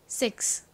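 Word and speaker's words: six: 시옷 소리 나죠? 그리고 I는 E 소리 나죠? X는 기역 받침에 S 소리가 납니다. 발음해 볼까요? 6 S의 뒤에 자음이 아니라 모음인 I가 왔으니까 좀 센 발음이 나죠. 그래서 정확히는 거의 쌍시오처럼 발음이 난다 라는 거 기억해 주세요.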